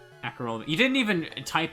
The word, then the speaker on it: Acerola: Casserole minus the C. I like Acerola.